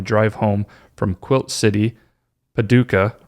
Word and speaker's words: Paducah: And she said, I generally watch on YouTube, but was getting caught up listening on my drive home from Quilt City, Paducah, right?